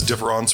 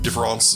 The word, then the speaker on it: différance: with better drug habits, Derrida spelled his différance with an a to differentiate between différance and différance. But, the gag is they're pronounced the same, so there's no way